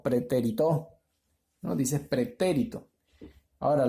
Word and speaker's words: pretérito: o pretérito nos dice pretérito ahora la mayor fuerza de voz está en la antepenúltima sílaba lo que la hace